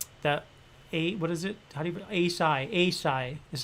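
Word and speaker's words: açaí: and the um that a what is it a psy is how you pronounce it or acai acai uh it's kind of like a a fruity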